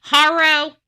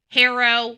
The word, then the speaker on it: Haro: But hooked on phonics tells me it's a long a and now we're saying it's a a short a. So, harrow harrow, we'll be using haro since everybody else is using harrow.